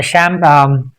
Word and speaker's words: champagne: It's not campign or champagne or champagne. All these are bad pronunciations.